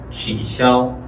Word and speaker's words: 取消: 그래서 취샤오, 취샤오, 샤오, 삼성, 일성, 취샤오. 이 시아오의 X가 C 발음이에요. 한어 병음 앞에서 강의를 잘 기억하시면 금방 생각날 거예요. 이렇게 S, 시옷이 그대로 시옷 발음 나요.